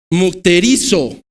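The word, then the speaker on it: μυκτηρίζω: La palabra que utiliza Gálatas capítulo 6 es la palabra mukterizo. Lleva acento en la I.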